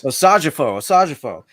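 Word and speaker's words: Osajyefo: for I the pronounce his name. Hey, killed it. Yeah. Level no prize. Osajifo.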